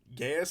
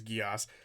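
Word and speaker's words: Geas: They were saying Gaius, but I'm pretty sure it's Geos, on the massive spider to take out its mother.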